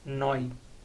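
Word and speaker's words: noi: Tenemos el pronombre nosotros, que en italiano se dice noy.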